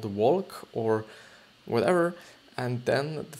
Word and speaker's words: Walch: on, just, noticed that it is actually an Austrian name, so it should be actually pronounced as the Austrian name, which then would be Walch. Walch.